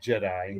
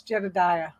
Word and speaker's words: Jedediah: i'll pronounce that wrong it's not jedi it's jedediah jedidiah he goes by jetty